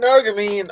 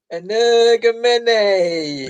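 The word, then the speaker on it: Energumene: It's an Energamine or an Energamene. No, say it properly, please. Energamene.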